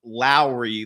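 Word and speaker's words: Lowry Markkanen: um Lowry Markin and his first name is pronounced Lowry like Mike Lowry from Bad Boys so it's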